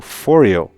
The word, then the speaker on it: Phoreo: into foreo right and i didn't know how to pronounce this but i've already looked at a video by martin martin clang the designer and he pronounces this foreo so that's how i'm going to pronounce it as well and basically fourio is